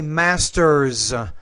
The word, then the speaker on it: Master's: you want to say Master's again you have an S at the end there it should be pronounced as a z because it comes after a voice consonant ER master and to